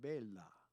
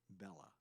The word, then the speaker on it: bella: in like an Italian when you have a word that has double letters you've got to be pronounced both of the letters so it's Bella not Bella Bella Bella Bella bill LA two L's and if you don't